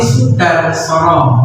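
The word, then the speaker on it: Soedarsono: Nah, sebelumnya itu bukan Soe Mbak ya, tapi Sudarsono, ya. Itu ejaan lama. Sekarang sudah disempurnakan menjadi bukan Soe tapi Sudarsono.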